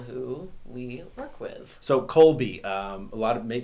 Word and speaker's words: Kolbe: know the people who we work with so Colby um a lot of May someone may not know how to spell that that so k o l b e that's correct k o b e um Colby and what is the co has do well